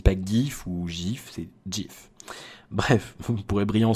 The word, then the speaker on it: GIF: repris, le GIF animé, ça se prononce GIF, D-J-I-F, voilà.